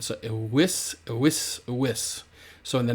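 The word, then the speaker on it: eius: and that's masculine, feminine, and neuter, and it's ewis. And again, when we got 3 vowels together like this, that I sort of functions as a consonant, and it will be pronounced like a Y sound. So ewis, ewis, ewis.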